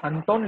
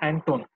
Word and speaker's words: Anton: Okay, इन्होंने यहाँ पे अंटोन लिखा है लेकिन दैट इज प्रोनाउंसिएशन हम लोग करेंगे एंटोन.